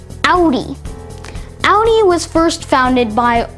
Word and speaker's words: Audi: Well, in German, if you see the letters AU almost anywhere, it will probably be pronounced Au. And that's the case here, where it's not pronounced Audi, but rather Audi.